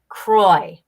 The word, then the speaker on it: Croix: second word I apologize yeah it's Saint Croix Kroy okay so the Saint